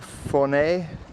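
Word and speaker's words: Fornells: That was the entrance over there to Fournay, written Fornals, but pronounced Fournay. Well, it's 10 o'clock.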